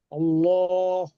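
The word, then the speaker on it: الله: কেমন পড়তে হয় পুরটা আপনার মুখ গোল করে পড়তে হবে উচ্চারণটা করেন ল হবে আল্লাহ আল্লাহু আর বাড়িরটা হচ্ছে লা লাম মাথাতে লা হবে।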